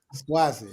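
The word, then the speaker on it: Suozzi: swazi I had to look up how to pronounce the name swazi SW then we're going to have a ceasefire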